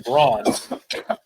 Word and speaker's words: Brond: But I know one of the bigger churches I've heard of is in Braun.